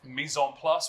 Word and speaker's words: mise en place: So, now that we've processed all of our mise en place, we would call it.